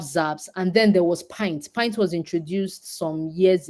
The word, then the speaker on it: Pynt: So Pint is spelled Pynt.